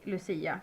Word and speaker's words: Lucia: We just say Lucia because that's the Swedishified um pronunciation, I guess.